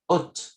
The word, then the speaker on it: haute: Alto o no pronuncié la T al final, en femenino se vuelve haute.